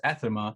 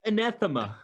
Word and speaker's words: anathema: us killing a monster and being heroes as ethema and kill those people for their blaspheme uh